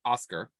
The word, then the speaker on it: ASCR: as michelle said we we call that oscar uh that's how we